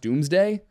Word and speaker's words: Domesday: And it ended up being, it's spelled Domes Day, Domesday, but it's pronounced Doomsday. So we get the Doomsday Book, which just tells us about farming products.